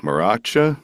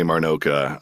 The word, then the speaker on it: Marnocha: you know, and also thank you for saying Marnoka properly. I know you know how to say it, but so many people this week that I'm working with they're like Maracha, Marinot Marinero. I'm like you're adding letters.